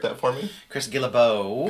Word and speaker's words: Guillebeau: Chris Guillebeau, who I probably just mispronounced his name, so you want to correct that for me? Chris Guillebeau. Guillebeau.